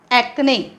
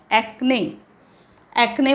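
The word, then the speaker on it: acne: लाळ तोंडात असते लाळ आपल्या ती सलायवा ओके एक्ने उच्चार एक्ने म्हणजे मुरूम चेहऱ्यावर मुरम येतात तरुणपणी मुलांच्या त्याला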